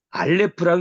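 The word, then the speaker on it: א: 이 문자가 나오고 요 글자가 나오고 요 글자가 한글 음력이 뭐냐라고 하는 요거하고 요게 알레프라고 읽는다. 요거가 중요해요. 요 글씨가 알레프다. 그리고 소리가 안 난다. 묵음이다.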